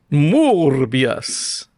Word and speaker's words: Morbius: You gotta say it like it's spelled. Morbius. There you go.